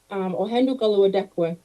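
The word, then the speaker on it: Ohén:ton Karihwatéhkwen: This Ohendukaluadekwe is how you say this word.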